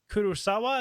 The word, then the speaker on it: Kurosawa: and you've specifically mentioned the work of Akira Kurosawa. Is that how you say that? I want to make sure I'm pronouncing it correct.